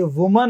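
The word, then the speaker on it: women: तो ये वुमन है और ये क्या है दोस्तों, विमेन है।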